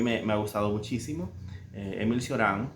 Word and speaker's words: Cioran: Y nada, bueno, quería leer un poquito de Choran o Cioran, como yo lo pronuncio con mi español de El Salvador.